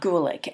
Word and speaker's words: Gulick: and then Roberts or Bob gulick gue li CH and they really talk